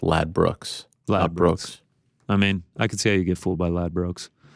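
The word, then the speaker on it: Ladbrokes: Angela's telling me it's pronounced Lad Brooks.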